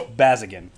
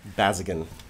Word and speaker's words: Bazzeghin: It's Bazzeghin. Bazzeghin. Did I do any? No, that's perfect.